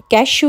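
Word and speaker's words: cashew: pine नट और काजू कैशु नट कैश श की साउंड है सी ए एस एच ई डब्लू कैश नट and yeti nut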